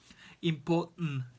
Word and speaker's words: important: When we have a T vowel and N, we pronounce the T as for example, important, written, certain, eaten, cotton, mountain, Manhattan. Cheers. Okay, let's read these examples again together. For example, important is a small cough.